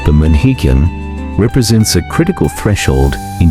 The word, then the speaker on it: Pamanhikan: Pamanhikan, pronounced Pamanhikan, represents a critical threshold in Filipino relationships, a